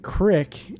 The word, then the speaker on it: creek: Tack, what do you think about the creek or the animals? Well, first of all, I think you guys are mispronouncing it. They pronounce it crick in the documentary.